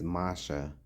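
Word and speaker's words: משה: The name Moses pronounced in ancient Hebrew is Masha, which means drawn from the water.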